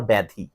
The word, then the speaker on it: ব্যাধি: দুই একটা ব্যতিক্রম আছে আবার, যেমন বেধি না, কিন্তু ওইটা আবার ব্যাধি, রোগ বেধি নয়, ব্যাধি।